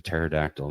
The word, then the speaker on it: pterodactyl: Why can you not hear a pterodactyl use the bathroom? This one I have I would have absolutely no idea. Cuz he doesn't fit in one. Cuz the P is silent.